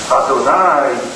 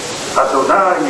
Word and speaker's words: Adonai: a recitare lo scema isra cce ma Israel Adonai El loen nu Questa è la pronuncia esatta Adonai e luu Adonai e Car e con l'aspirazione